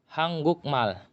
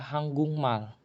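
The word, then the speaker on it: 한국말: Yang bagian ini Hanggukmal. Harusnya dibaca Hanggungmal. Oh iya.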